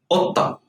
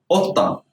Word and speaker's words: قطة: قطة. قطة. Here's the cough is pronounced like a glottal stop.